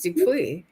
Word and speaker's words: Dupuis: It is Dupuis. Yeah, I knew the S was silent, but yeah.